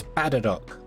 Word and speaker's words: Spatterdock: It's Spatterdock. Spatterdock. Like Spaderdock, but pronounced badly.